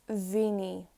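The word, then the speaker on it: mhíniú: When it has SÉIMHÍÚ, it's vini.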